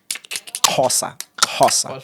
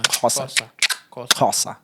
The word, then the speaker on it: Xhosa: like if you pronounce Diwakan, like it's like the way you call the horse, like Xhosa. Yeah. Xhosa.